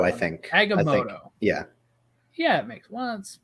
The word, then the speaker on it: Agamotto: Agamotto, I think. Agamotto. Yeah. Yeah, it makes it's spelled like motto, but yeah, I think they say moto.